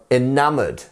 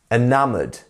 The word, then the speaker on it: enamored: job great job guys next up we have enamored enamored that's this one here enam it's not enam